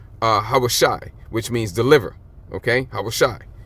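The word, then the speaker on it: הושע: And you would say his name in the Hebrew, Hawashai, which means deliver, okay?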